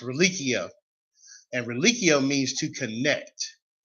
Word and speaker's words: religio: from latin meaning in the latin form it's pronounced relichio and reliccio means to connect and you say